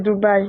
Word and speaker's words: Dubaï: vit dans un pays tu s même pas prononcéou Dubaï ah désolé c'est Dubaï désolé ok on t'coute désolé h ah là